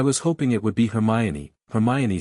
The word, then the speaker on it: Hermione: of Harry and said, in the slow, emphatic way a teacher corrects a first year's pronunciation, "Hermione." "Her." "Me-own." "Nay." "Dog." said Harry. "Hermione."